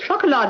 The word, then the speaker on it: Chocolade: You saw where it's spelled chocolate? C-H-O-K-O-L-A-D-E. And what does ween mean? Chocolade is the German for chocolate.